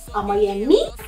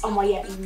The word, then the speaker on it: Omoyeme: And they're like, Omoyemi? No, it's Omoyeme.